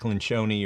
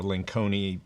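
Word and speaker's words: Lencioni: It's Patrick Lynchone or Lancone, I think you pronounce his name couple of different ways.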